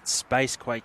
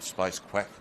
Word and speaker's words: Spacequake: Spacequake Sports. Spacequake, rightio. I think I called him Space Quack once, but Fair chance.